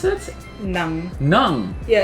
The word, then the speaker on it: ng: So how do you pronounce it? Nang.